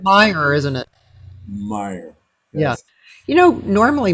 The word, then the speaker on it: Meyer: See, now I have too much attention on how the correct pronunciation. all It's right. Meyer, isn't it? Meyer.